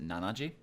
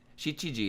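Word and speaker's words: 七時: notice here is that 7 is not pronounced Nanaji I've heard pronounced like a couple times but she cheese she GG is generally the agreed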